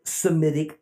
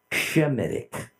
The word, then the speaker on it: Semitic: language Akkadian is a Semitic language let me remind you that the term Semitic is essentially a mispronunciation it ought to be pronounced somatic semi means from the line of Shem Shem was one of